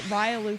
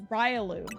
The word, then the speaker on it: Riolu: I've called it Riolu for 20 years. It's Riolu. It's not Riolu.